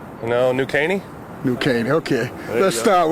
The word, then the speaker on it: New Caney: Let's start with Kenye High School. Whew. Did I pronounce it right? No, New Caney?